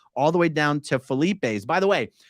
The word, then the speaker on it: Philippe's: the way down to Felipe's by the way the correct pronunciation in French might be Philippe's but the owners of the restaurant are not French and my understanding is